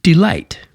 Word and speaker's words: delight: by a stressed syllable, as in delight. Notice how the first part, D, is not emphasized, and light is delight.